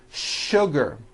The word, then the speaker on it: sugar: in English that are written with the letter S but are pronounced with the SH sound words like sugar and sure and to